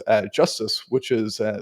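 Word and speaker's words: JSTZ: getting a new type of Ledger called uh justice which is uh spelled jst TZ which is so it's it's a fun pronunciation um to use jstc and say justice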